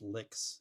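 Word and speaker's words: LICZ: It's pronounced licks. L I cz.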